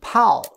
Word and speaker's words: 炮: Pao, this one pronounced fourth tone, Pao. Like P-A-U-L, Pao. And you, except you don't roll up your tongue at the end.